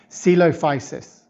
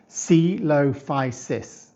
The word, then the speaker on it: Coelophysis: Coelophysis. Coelophysis. Now I know this dinosaur's name doesn't sound like how we spell it, but it was one of the most common and successful dinosaurs of its time.